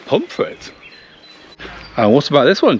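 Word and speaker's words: Pontefract: about this one uh pontif frct that is correct but how do the locals say it do you know I don't pit pum frit and what about this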